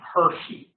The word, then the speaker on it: Hirschi: theory is guy named Hershey H iir CH sounds like chocolate bar but you spell it different Hershey Hershey had asked